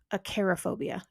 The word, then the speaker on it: Acarophobia: aerophobia this one's pretty easy to pronounce aerophobia a c a r o